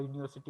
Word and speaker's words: university: Okay, so if it begins with you, so it should Because, be, sir, it sounds like Y.